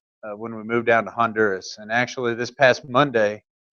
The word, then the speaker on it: Honduras: I'm the AIM coordinator there in Santa Rosa de Copan in Honduras. You don't sound like American. You can say, pronounce the H and say Honduras.